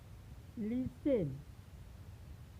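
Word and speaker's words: listen: बाद आता है, तो यहाँ पर टी का उच्चारण नहीं होता है, यानी टी को नहीं पढ़ा जाता है। जैसे लिसेन, कैच, लीची, साफेन, आफेन।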